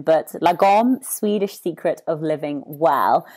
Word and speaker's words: lagom: yes absolutely so uh the title is uh pronounced logo and the reason why this came about was